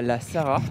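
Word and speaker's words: La Sarraz: viens d'arriver dans à la sara avec un z à la fin et ça se prononce pas petit village j'en sais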